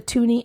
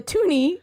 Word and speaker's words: toonie: a bird um and the toonie is just because it rhymes with looney and it's about yeah